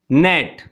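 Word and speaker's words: gnat: As number 1, नेट, इसमें G silent है, सो यू can write sign.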